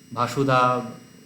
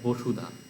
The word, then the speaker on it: বসুধা: ধর যাক আমরা এখানে দিলাম বি এ এস ইউ ডি এইচ এ ভাসুধা নয় এটা বসুধা। স্পষ্ট বাংলায় যেটা আমরা বসুধা বলি বসুধা বলতে পারি। বা কেউ যদি শুদ্ধ উচ্চারণ করতে বসুধা উচ্চারণ করতে পারেন বা শুধু বসুধা বললেও অসুবিধা নেই। কিন্তু এইখানে ভ উচ্চারণ হবে না।